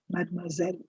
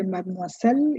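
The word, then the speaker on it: mademoiselle: Madmoiselle. Please see the S in this word is sounding like a zed. You don't say madmisel, you say madmoiselle.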